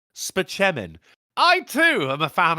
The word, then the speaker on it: Spaceman: look at this it's Dr Spaceman for $12 says pronounced span I too am a